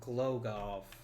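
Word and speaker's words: Głogów: Let's start improving relations in Glogov. I'm assuming it's Glogov. In East European countries, the W at the end is generally pronounced like a V.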